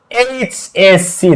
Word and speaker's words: HSC: তাহলে আমরা একটু এখানে খেয়াল করি, এইচএসসি, তাহলে প্রথম শব্দটা, প্রথম অক্ষরটা এইচ, তাহলে এইচ আমরা উচ্চারণ করব, এইচ কি আসছে, এইচ, তাহলে এ, ফার্স্ট অক্ষরটা কি আসতেছে, এ, এ একটা কি ভাওয়েল, এ একটা ভাওয়েল, তার মানে এখানে an এইচএসসি student, an এইচএসসি student, বোঝা গেছে বিষয়টা?